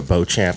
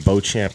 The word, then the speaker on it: Beauchamp: So you go there, you type in Beauchamp and Chase. It's going to be, this will get you, I'll just spell it out. It's BEAUCHAMP, like champ, and then Chase, CHASE.